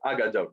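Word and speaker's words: הגדות: Other narrative materials are Haggadot, which then becomes pronounced Agadot, because some people don't like pronouncing Hayes. It's true in Israel today also, right? You go to Yerushalayim, people don't pronounce their Hayes. So Haggadot becomes Agadot.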